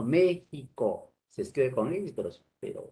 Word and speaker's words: México: al sonido también para representar el sonido de la jota o se hacen a como como jota no por ejemplo méxico se escribe con ministros